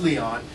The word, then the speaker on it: Leon: is the Leon room it looks like Lion but it's actually pronounced Leon trust me I have